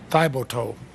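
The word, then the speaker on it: Thiboutot: responses to Maine versus Thibodeau. That's how the Supreme Court tells me it's pronounced. It's not how those of us who live with those of French-Canadian descent might say it, but you strongly criticize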